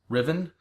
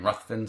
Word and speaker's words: Ruthven: I've also heard it pronounced Riven, but I've always pronounced it in my brain Ruthven, so I'm going to go with that.